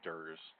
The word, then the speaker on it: DERS: So these smart pump features collectively are known as the dose error reduction software, the dose error reduction system, and we often pronounce that DERS.